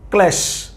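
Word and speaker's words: ক্লেশ: ক ল ফলা এককার ক্লে তালুবস কি হইছে ক্ল্যাশ ক্ল্যাশ মনের কষ্ট ক লফলা একা ক্লে তালুবস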